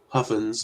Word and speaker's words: Huffines: Huffins, I think, is how it's actually pronounced.